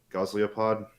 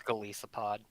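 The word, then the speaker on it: Golisopod: other uh the strange how do you pronounce it goslipod yeah close enough I believe it's galisa pod it's a Lisa pod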